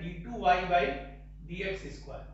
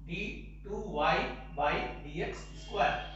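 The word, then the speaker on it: d²y/dx²: dx square लिखते हैं, तो इसको pronounce करते हैं d2y by dx square, d2y by dx square।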